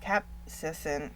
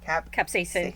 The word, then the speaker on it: capsaicin: that the ointment of capsaicin, well, I said it wrong. Capsaicin.